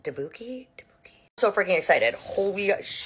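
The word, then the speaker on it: tteokbokki: I got Tabuki for the first time. I think it's actually pronounced Dabuki.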